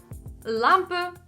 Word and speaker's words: Lampe: In the end, they get something like "halo", "luft", "lampe" and "muelleimer". This is a good try, but also wrong. We only need to soften the "L" itself. And we should get the following words: hallo, Lampe.